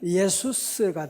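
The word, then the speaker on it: Ἰησοῦς: 그리스 원어로 발음하면 예수스가 돼요.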